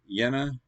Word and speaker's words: Jena: Jena, yeah, man, I give up. I'm sorry, guys. It's Jena. Is that how you pronounce it?